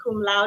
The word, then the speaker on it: cum laude: Hilda graduated salutatorian, number 2 of 670 plus students from Proctor High School in 2015, and cum laude, did I pronounce that right?